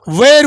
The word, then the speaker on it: where: ওয়ের will you cook? ঠিক আছে? আমার সাধারণত ওয়েরটাকে কি বলি? হোয়ার বলি, তাই না? কিন্তু হোয়ার কি উচ্চারণ? এটার উচ্চারণ হোয়ার নয়, এটার উচ্চারণ হচ্ছে ওয়ের।